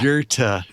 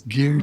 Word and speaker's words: Goethe: like, you're mispronouncing Yeah. Foucault's last name. Exactly. Yep. Oh, it's yeah. Goethe. It's Goethe.